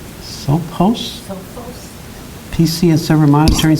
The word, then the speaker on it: Sophos: The Sophos, is that how you pronounce that? S-O-P-H-O-S? Sophos?